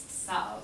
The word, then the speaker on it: savent: Vous savez, S-A-V-E-Z, and for il and elle plural, oh no, the wrong, it's savent, I'm sorry, just be this way, savent, il, elle, savent, S-A-V-E-N-T.